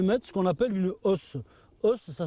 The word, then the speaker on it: hausse: Et par-dessus, par-dessus, je vais mettre ce qu'on appelle une os. Os ça s'écrit hau 2S E. Ça veut dire en fait ce qui est en haut, la partie haute. Et donc cette hausse, voilà, contient des cadres de cire, alors plus